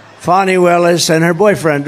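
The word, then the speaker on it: Fani Willis: right is anybody fonny it's pronounced fonnie F A ni I that's Fanny but she likes it fonny when she became the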